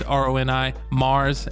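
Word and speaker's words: Roni Marz: uh a homie uh ronnie i hope i think i'm saying her name wrong she never pronounced it it's roni mars m-a-r-z we uh i produced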